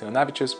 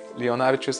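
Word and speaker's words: Leonavičius: that there's a second channel simply called Leonavicius, which is my name and surname. Leonavicius, I understand it's a tough name to pronounce, so that's why I'm saying.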